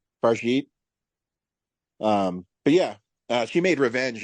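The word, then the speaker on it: Fargeat: It's definitely French. I think it's Farjit. Farjit.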